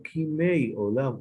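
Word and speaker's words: כִּימֵי עוֹלָם: No se dice que Yemei, como los días de, sino Kimei Olam Ukshanim Katmoniyot, así como decimos.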